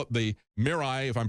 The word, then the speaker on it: Mirai: they released this uh they call it the Mirai if I'm pronouncing it correctly it's m i r AI